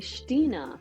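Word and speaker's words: Xtina: German friend of mine who called me Stina. And I said, well, how do you spell that? And he said X-T-I-N-A. Oh, really? Stina.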